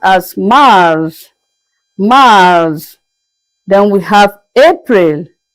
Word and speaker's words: mars: March is is pronounced as Mars.